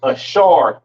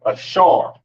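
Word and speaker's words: אשר: Pronounce Ashar in the Hebrew, Ashar.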